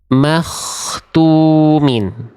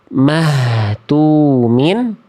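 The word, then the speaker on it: مختومين: Makhtumin. Makhtumin. Saya coba zoom ya, pelan-pelan, step by step. Nah, jadi enggak boleh mahtumin, enggak boleh juga mahtumin, tapi dibacanya makh makh makhtumin. Paham ya?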